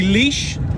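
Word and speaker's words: Laois: Just entered County Leash. Yes, that is how you spell it.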